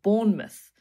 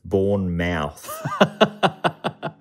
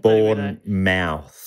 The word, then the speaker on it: Bournemouth: divorced following the war i think english people will be annoyed by that pronounce it's bournemouth would we'll just get we'll get tweets if we don't yeah thank you for born mouth one mouth born mouth yeah that sounds better that sounds better i'm